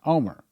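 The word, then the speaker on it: Olmert: name o l well you spell it o l m e r t but it's pronounced Omer so we don't know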